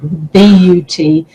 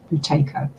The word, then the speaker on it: Buteyko: Buteyko, Buteyko. Sounds like potato, but it isn't.